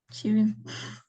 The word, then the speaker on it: sewing: Sewing. How do you pronounce this word?